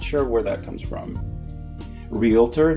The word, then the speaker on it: realtor: Realtor, not realtor. It's spelled realtor, right? Someone who sells real estate, a realtor.